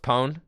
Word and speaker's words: Campone: to get this game ponis pronounced pone campone got it thanks campone pone like we pwn the noobs yes campon got